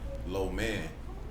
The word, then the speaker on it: lo mein: So it's a reflection of just the idea of, even if you pronounce lo mein in Mandarin, it's low man.